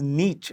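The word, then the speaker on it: Nietzsche: of the sentence the first the word is Niche that's how his name is pronounced it was decadent decaying in feebled weak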